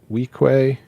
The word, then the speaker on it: Weequay: He's a Weequay.